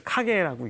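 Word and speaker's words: 影: 카게는 일본어로 이렇게 그림자 영자를 카게라고 읽습니다.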